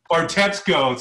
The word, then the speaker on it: Bartetzko: Bartetzko. See, I like it. You pronounce it better than me.